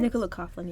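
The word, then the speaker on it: Nicola Coughlan: pronounce her name Nicola Coughlin is that your pronounce Nicola coflin yes yes okay just double checking how we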